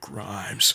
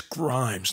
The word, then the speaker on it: Grimes: name rick listen rick grimes freaking no it's grimes not grime this this man is